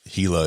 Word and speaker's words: Gila: You should, if you've never seen a Gila monster, and for those that aren't from the southern part of the country, you don't speak Spanish, Gila is spelled Gila.